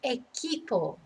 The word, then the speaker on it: equipo: So remember, a Q is pronounced like a K in Spanish. Not el equipo, el equipo, okay, the team.